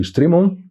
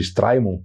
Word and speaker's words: Strimon: Essa cidade, ela ficava ali na margem do rio Strimon. Alguns pronunciam hoje Straimon, tentando tornar um pouco mais ângulo, mais Strimon.